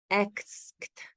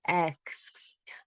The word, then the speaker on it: asked: television saying i asked why do people mispronounce asked they say i x i don't understand because the a is followed by the s and the k e d so i don't understand why people say it i asked i heard